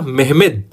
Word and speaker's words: मेहमत: उसका नाम था मेहमत मोहम्मद लिखवाता है लेकिन सही रहा उसका मै हिम्मत से कठिन और इसको कई बार यह भी लिख देते हैं मत क्योंकि इसका जो तुर्की में उच्चारण है वह महत्व होता है इसलिए इसको मेहमत सेकंड करते हैं इसको कहते हैं